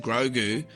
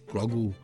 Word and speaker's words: Grogu: of it, and it's Grogu. She said, Grogu, you got to drop the kind of goo. So Grogu with a dropped goo.